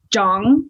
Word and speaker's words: Zhang: you pronounce that yeah you actually say like jong like like it's almost like a j but like with a soft age after it so it's like j like zsa gabor kind of oh okay